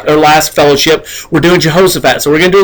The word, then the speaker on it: Jehoshaphat: was his son who is also a Jehoshaphat Jehoshaphat is correct that's right and so we're going